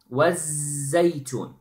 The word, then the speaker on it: الزيتون: So notice, you know how I, you know the pronunciation of the zay. Okay, was. It is not was, wasaytun. No, wasaytun. Okay, wasaytun. Okay.